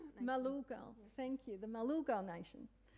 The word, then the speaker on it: Malulgal: Malulgal. Malulgal, thank you, the Malulgal Nation.